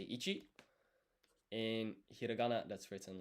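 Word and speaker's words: いち: To say it, you say ichi.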